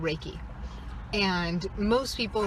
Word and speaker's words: Reiki: The most common and kind of gateway methodology is called Reiki. And most people How do you pronounce, is it Reiki? Reiki. Like, Reiki, 2 words. It's Japanese, 2 words.